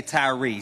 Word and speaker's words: Tyre: When I say his name, say Tyree.